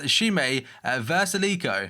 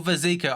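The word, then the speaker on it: Šime Vrsaljko: Apparently it's pronounced Shime Versalico or Vezico, either way you want to look at it.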